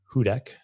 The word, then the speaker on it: Hudec: our first guest is going to be lucas hudak i said that right right yep nailed it